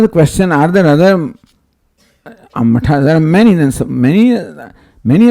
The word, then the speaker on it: matha: The spelling M-A-T-H-A. It's called matha, not mat or mata or something. So anyway, people pronounce it differently. The word is matha in Sanskrit.